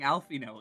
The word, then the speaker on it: Alphinaud: Mispronouncing Alphino again. You don't pronounce and you, the D.